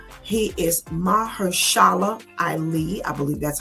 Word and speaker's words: Mahershala Ali: Okay, I don't know how to pronounce his name. He is Mahershala Ali.